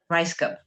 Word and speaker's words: Rajskub: Lynn Rajskub. Okay, so Rice Cub. Rajskub. Yeah.